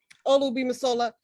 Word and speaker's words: Olugbemisola: So real quick, Olugbemisola, real quick.